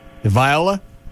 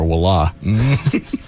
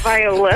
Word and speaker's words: Viola: Viola. Yes. It was either that or wila. It's Viola.